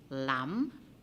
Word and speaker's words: lamb: identified the silent letter for the word lam silent b the b is silent in lam tu you have w